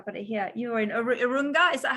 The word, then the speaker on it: Urunga: You're in Urunga. Is that how you say it? Actually, that is almost how you say it. Urunga in Gumbaynggirr. Okay, okay. Urunga in English.